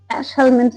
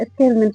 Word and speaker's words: Aschelminthes: तो आगे आते हैं नेक्स्ट अब फाइलम एस्केह हेल्मेंट्स ऐश हलमंड्स भी कोई इसको बोलते हैं। को साइलेंट भी रखते हैं तो ऐश हलमंड्स भी हो जाता है। एसके हेल्मेंट्स भी हो जाता है।